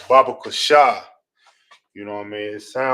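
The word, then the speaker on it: בבקשה: Please, which in the Hebrew is pronounced Baba Kusha.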